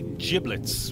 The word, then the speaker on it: giblets: take that one yes I do say giblets with a soft G even though my name